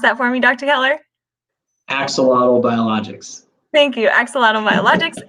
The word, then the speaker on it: Axolotl: as the chief science officer for can you pronounce that for me dr keller axolotl biologics thank you axolotl biologics and the chief